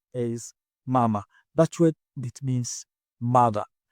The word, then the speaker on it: mama: It is pronounced as mama. That's what it means, mother. And stress is on the first ma, which means last but one syllable.